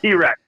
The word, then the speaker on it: TRX: The Ram TRX. My bad. Yeah. The T-Rex. Yeah. T-Rex. Yeah, T-Rex. Yep. So yeah, I said it wrong.